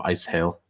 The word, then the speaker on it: Asyl: one if he uh started to say um uh asy instead of ice hail um ice hail is the correct pronunciation of the German oh yeah but a